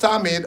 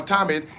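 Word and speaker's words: תמיד: And it says, yes, in biblical Hebrew, the word translated as daily in English Bibles is pronounced tamid or tamid.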